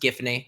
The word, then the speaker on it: Giffany: it's like and the actual gravity falls it's pronounced giffany but people who pronounced it jiff or some